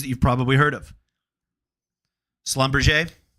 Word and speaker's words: Schlumberger: you've probably heard of Slumber we had to YouTube that three or four years ago to make sure we were pronouncing it right because we were calling it Schlumberger it's a French company